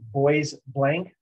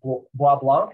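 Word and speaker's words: Bois Blanc: it's it appears as if it would be boys blank island my understanding is the proper pronunciation would be wa-blanc with the french it's white bark because there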